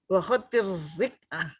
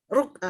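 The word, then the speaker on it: رقعة: khotin naskhi wa khotil rik'ah. Ruk'ah. Ya. Ruk'ah apa rik'ah yang benar Ustadz? Terkenalnya rik'ah ya. Iya, kalau kita bacanya Kita akrabnya rik'ah. ruk'ah. Akrabnya rik'ah atau ruk'ah. Sama aja ruk'ah atau rik'ah.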